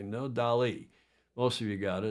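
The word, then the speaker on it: Dalí: and yes Ted Ryman that is a DOI that is dolly dolly I don't think there's an accent on the eye the Persistence of memory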